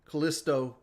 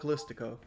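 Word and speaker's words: Callisto: a platinum ciso protocol ciso Kalisto protocol whoa he pronounced it correctly I don't know why I call it kiso the Kalisto protocol I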